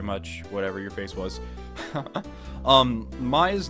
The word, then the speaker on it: Maya: Maya's name is actually pronounced Maya, and Mia's name is pronounced Mia.